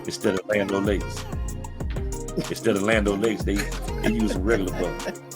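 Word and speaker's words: Land O'Lakes: In the hood, they call it Lando. Lando Lakes.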